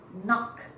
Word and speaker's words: knock: When you pronounce, you do not pronounce the k. You do not pronounce the k, you pronounce kneel. You pronounce knock. You pronounce knee. So k has no sound.